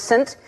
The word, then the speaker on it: Saint: We were sending all these names, and she sent St. Vincent, but it's pronounced Saint, and I knew you were going to see Saint and go, do you remember that?